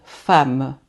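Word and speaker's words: femme: Quando essas duas consoantes, quando a dupla consoante é um m, o e vai ter o som de a. Por exemplo, eu vou dizer fama, fama. Repitam, fama, tá?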